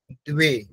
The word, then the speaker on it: দ্বে: একটু ভালো করতে হবে যেরকম দুই এখানে আছে সেই জন্য দ এর সাথে ওয়া উচ্চারণটাও করতে হবে দ্বে একম দ্বে ত্রেণী এখানে